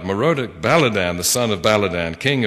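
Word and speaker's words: Merodach-baladan: ahaz at that time merodek baladan the son of baladan i didn't pronounce that first one right moroda baladan the son of baladan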